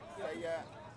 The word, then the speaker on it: Seiya: So S-A-Y is in Sei. Number 22, Seiya Natsu Nei.